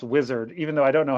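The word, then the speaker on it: Uizard: Apparently, it's pronounced wizard, even though I don't know how you get that from UI Zard. I've been calling it UI Zard for wizard.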